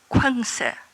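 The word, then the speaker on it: 昆山: His name Quincy may have been inspired by his native place, Kunshan. In Jiangsu, it would have been pronounced Kunse, which sounds quite like Quincy.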